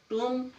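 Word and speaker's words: tomb: जब भी किसी शब्द में एम के बाद बी आएगा तो बी साइलेंट होगा। टूम, लिम, थम।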